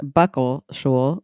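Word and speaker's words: bəqəlšuł: So their name, Muckleshoot, actually comes from the native term, this is it, Buckleshul. Buckleshul. This has, it's pronounced Buckleshul, but it's spelt B upside down E, Q,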